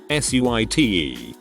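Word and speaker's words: suite: seemed like five minutes dear you don't pronounce that sweet she said like she was talking to a five-year-old that just failed kindergarten it's pronounced suit i think she must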